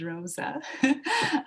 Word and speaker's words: Roza: My name is Roza. For some reason, it's a Q at the end, but it is Roza.